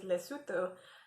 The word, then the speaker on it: Lesotho: know how to pronounce it because the correct pronunciation of the actual country is lesotho and so is this to sulu or yeah